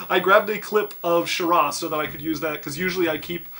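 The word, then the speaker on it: Sharah: Say we have a fan who wants to spell that. S-H-A-R-A-H.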